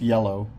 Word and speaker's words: IELLO: This company, they're pronounced Yellow. It's IELLO. My buddy did some work